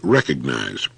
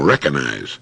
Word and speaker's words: recognize: use of the word recognize time and again i hear people saying recognize there's a letter g in there and it's supposed to be pronounced now you don't have